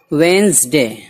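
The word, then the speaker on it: Wednesday: वेंसडे, Budh. When D को नहीं पढ़ते हैं, इसलिए कि डी यहाँ पर साइलेंट है, खामोश है, इसे नहीं पढ़ा जाता है।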